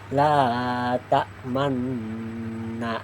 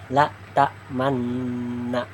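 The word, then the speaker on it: لَا تَأْمَنَّا: Ismam adalah isyarat memonyongkan gibir setelah membaca huruf sukun tanpa suara sebagai tanda asal harakat dah. Ciri ismamnya itu tidak terdengar suara tambahan. hanya terlihat dari gerakan bibir khusus untuk bacaan tertentu saja. Nah, contoh ayatnya terdapat pada Quran surah ayat Quran surah Yusuf ayat 11. La tamanna nah la. Nah, lihat mulut saya ya. La tamanna. Nah, harus memonyungkan bibir setelah baca huruf sukun.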